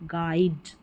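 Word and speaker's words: guide: जी यू को ग पढ़ेंगे। यू साइलेंट है। जी यू को ग पढ़ना है। ऐसे याद रख लें। जैसे गेस गेस्ट और गाइड।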